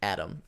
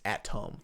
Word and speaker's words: Atom: bot fighting bot and his name is adam atom not adam like like the atom that you would think it's at tom tom but they just say adam yeah oh that's how